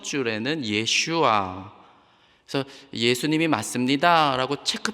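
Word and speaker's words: ישוע: 그러나 또 한편 예수님의 본디 히브리 발음 예슈아, 이거를 받아들인 메시아닉 주들, 유대인들은 이렇게 주님을 높여요.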